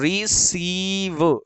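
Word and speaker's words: receive: तो RE, री, CIE, सी, और V से व, क्योंकि क्योंकि लास्ट में अगर ई होता है तो उसे प्रोनाउंस नहीं करते। तो रिसीव, रिसीव।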